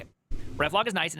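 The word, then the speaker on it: reflog: Pro pronounce ref log. Not relog.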